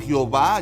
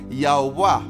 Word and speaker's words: Jehová: el nombre de Dios, formando así el nombre de Yahwá, que se pronuncia algo así como Yahová.